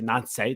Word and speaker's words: Nancy: French, so they say Nancy.